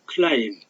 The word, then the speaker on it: climb: climb, climbed, climbed, climbed. 전부 다 B자 소리 안 났죠? 보세요. climb, B 소리 안 났죠? climbed, climbed, climbed. 이렇게 소리 안 나는 거. 이런 걸 묵음이라고 그래요. 묵음. 묵음. 발음되지 않는 소리. 그래서 여기서는 climb이라는 단어는 B자가 소리 안 난다. 알아두세요. climb, climb. 그 climb은 B자 소리 안 난다.